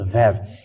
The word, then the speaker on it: Vav: It is called Vav. It is pronounced as V, and this is how we write it in Hebrew.